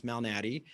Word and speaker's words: Malnati: And so my last name can be difficult to pronounce, Malnati.